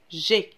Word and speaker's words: j'ai: ما نقدوش نقولوا je ai على هذيك نقلعوا ال E ونديروا à la place l'apostrophe باش نقدو نقولوا j'ai باش تجينا سهلة في النطق.